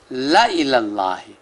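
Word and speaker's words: لَإِلَى اللّٰهِ: آل عمران رکوع 17 لکھنے میں ہے لا الہ اللہ اور پڑھنے میں ہے لا الہ اللہ، الف نہیں پڑھیں گے، الف زائدہ۔ اور آگے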